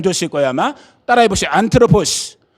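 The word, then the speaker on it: ἄνθρωπος: 안트로포스. 이게 발음은 뭐 상관없어요. 안드로포스라고 그래.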